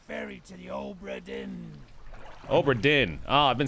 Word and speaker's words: Obra Dinn: Return of the Obra Dinn.